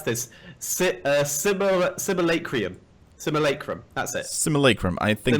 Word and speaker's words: Simulacrum: Alright, so the second heroic is Lucid hang on, I struggle to pronounce this. Simulacrum. Simulacrum, that's it.